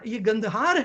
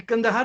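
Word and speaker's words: गंधार: ये गंदहार है, ये कंदहार तो मिस प्रोनाउंसिएशन है।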